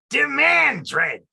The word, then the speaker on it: Demandred: does chase demandred ravine it's pronounced demand dread no only if you're